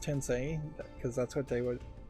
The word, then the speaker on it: Tensei: decided to do a speedrun of Shin Megami Tensei, which I thought was pronounced Tensei, but apparently it's pronounced Tensei because that's what how they were saying it in the game.